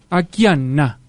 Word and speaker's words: Akiane: lituana estadounidense llamaba llamada akian kramarik que vivía en idajo akane se pronuncia a ane aana perdón a Ana de 12 años en